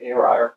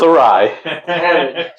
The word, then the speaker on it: awry: I always say awry. It's awry.